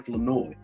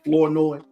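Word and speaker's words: Flournoy: that I'm saying it, I used to say Florenoi. I saw the um I saw the the pronunciation sheet. I saw the media pronunciation sheet pronounci.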